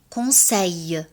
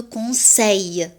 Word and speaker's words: conseille: Je te conseille. أنا أنصحك. عندما نجد حرفي ال في نهاية الكلمة نلفظها ي. Je te conseille. ليس دائما، في بعض الحالات.